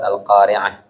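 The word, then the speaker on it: القارعة: Nah, ini qa, kita bacanya qa, bukan ko ya. Bukan al-Qari'ah, tapi qa. Dia antara o dengan a, jadi agak turun ke bawah. Al-Qari'ah, bukan al-Qari'ah, beda ko dengan qa ya. Wa ma adra, bukan wa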